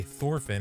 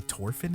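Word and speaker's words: Thorfinn: because they they say thorphin and not torfin oh they say torfin in the dub in the in the sub dude whenever like in the original audio oh they don't pronounce the h they say orphan yeah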